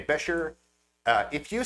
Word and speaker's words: Buescher: The correct pronunciation of this family name is Bisher.